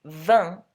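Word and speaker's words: vingt: these numbers is that the pronunciation of 20 V you don't pronounce the T but for 21 through 29 you do all right so you'll hear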